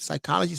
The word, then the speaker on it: psychology: one we spoke about psychology right phonetically it sounds like an s but it's a psychology spell with a p and so that is